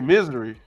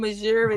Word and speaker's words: Missouri: you say it yeah I say misery my my my uh my teacher teacher in ninth grade used to say I'm from Missouri that's the show me